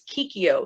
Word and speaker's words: Kikyo: Pretty much, because I tell them, I'm like, look, it's Kikyo.